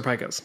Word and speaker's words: pika: you feel any better about it speakers are pikas that it's pikas i've been saying it wrong for literally over a decade well there you go yeah so it is definitely Pecos yeah Pecos RA lagomorph mammal it's a bunny